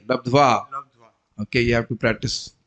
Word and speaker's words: लब्ध्वा: Mistake in pronunciation. Labdhe. Where is the labdhe here? Labdhva.